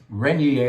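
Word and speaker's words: Régnié: Renier is how you pronounce it.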